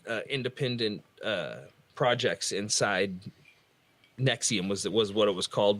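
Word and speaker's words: NXIVM: he had all these like independent projects inside nexium was that was what it was called but it was spelled like the douchiest way possible in Ex like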